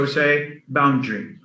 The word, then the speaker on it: boundary: the air is silent the a after the d is silent so we say boundary boundary boundary boundary so